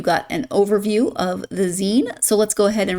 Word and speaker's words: zine: And then there's a older and younger I I had a a 20some year old pronounce it as Z to me. And I told, "Oh, it's Zen. It's short for magazine."